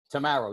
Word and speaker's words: Tammaro: name right it is tomorrow right tomorrow yes i i like to say uh straight as an arrow tomorrow ah okay that's